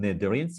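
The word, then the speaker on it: Cnidarians: members of sponges second group called nedurians is silent and includes many members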